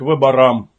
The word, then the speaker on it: выбора: а теперь приступим к выборам сказал председатель делая ударение на последнем слоге Профсоюзный язык Это совершенно